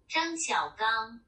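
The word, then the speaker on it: 张晓刚: He was born in 1958, and his name is pronounced Zhang Xiaogang.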